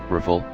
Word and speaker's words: Rafale: The Dassault Rafale, French pronunciation, Rafale, literally meaning gust of wind, 10 and burst